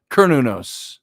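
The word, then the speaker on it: Cernunnos: so there you go sir nunos kernunos it's pronounced and so you should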